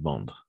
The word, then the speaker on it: vendent: J'aimerais qu'ils vendent, tout simplement. Parce que ENT à la fin, on ne prononce jamais.